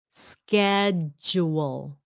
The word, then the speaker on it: schedule: about pronunciation pronunciation schedules schedule it sounds like sked okay schedule schedule like